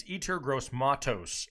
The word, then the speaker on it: Yetur Gross-Matos: It's Yetur Gross-Matos, edge rusher out of Penn State. And if I mispronounced it, back off my case.